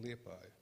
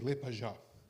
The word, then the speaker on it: Liepāja: to remember it's in lepai the second thing why I'm feeling like at home is power you are first Portuguese who pronounced my city correct you are always saying LePage you are the first